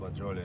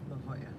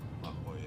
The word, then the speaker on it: La Jolla: It's a corner of La Jolie and 6th. It's pronounced La Jolla. La Jolla.